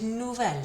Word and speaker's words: nouvel: Masculine plural noun, nouveau, again, feminine plural noun, nouvelle, and here, masculine noun starting with a vowel is nouvelle, spelled like this.